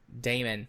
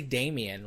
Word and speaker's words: Damon: I just said it I'm a male Damon I keep on to say Damien like I think that our brains like no that's not right no no no that's